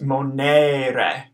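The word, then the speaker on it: monere: long e ar e that first E is going to be pronounced a and the second E is going to be pronounced ah so this whole word is going to be pronounced as Monet ray Monet okay something that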